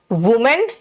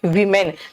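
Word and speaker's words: women: अच्छा प्रोनाउंसिएशन बेटा, मैन मैन, वुमेन वीमेन। देखो वो लिखे हैं, यहां पर भी वो लिखे हैं, लेकिन हो रहा है क्या, वुमेन वीमेन।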